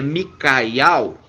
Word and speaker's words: Miqueias: Miqueias Miqueias e ao Então se se pronuncia micaial e Mika significa o